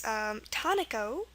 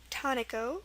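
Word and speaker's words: taniko: First one is tonico, tonico, which is T-A-N-I-K-O.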